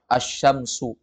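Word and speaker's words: الشمس: Ini mesti diulang-ulang ya alif lam syamsiyah itu alif lam yang ketika ditulis ada lafaz Al Ti ketika dibaca Tidak kedengaran suara Al Contohnya apa asyamsu asyamsu ya Kemudian yang kedua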